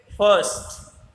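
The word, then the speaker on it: first: इसी प्रकार से फर्स्ट, इसमें भी आर प्रोनाउंस नहीं होगा।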